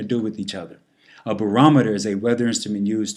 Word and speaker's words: barometer: determined by temperature a barometer is a weather instrument used to measure air pressure again as pronounced barometer not barometer but barometer moving on even more